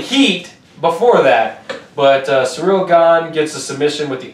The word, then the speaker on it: Gane: I think it's Gan. Yeah, that's it.